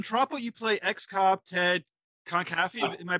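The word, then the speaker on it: Conkaffey: So in Tropo, you play ex-cop Ted Concaffey. Am I pronouncing it correctly? Concaffey, yeah.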